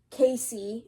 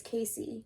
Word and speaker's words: Casey: Casey. Okay, it's Casey, not Case. My bad.